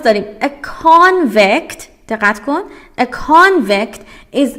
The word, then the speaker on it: convict: convict تلفظ سی محکم تره و حالا خودش زیر او هم دایره که در واقع خط کشیده که بگه او رو باید با اصرار بیشتری ادا کنی.